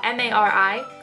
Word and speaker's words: Mari: Mari is spelled M-A-R-I. That is my name. For any of you wondering, that's how you pronounce it, Mari, like calamari.